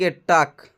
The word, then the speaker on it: talk: TALK, टक। यहाँ पर एल साइलेंट हो जाता है। क्या दोस्तों? एल साइलेंट हो जाता है, इसको हम पढ़ते हैं TALK, टक।